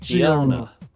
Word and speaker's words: Gianna: Gianna. It's like Geo.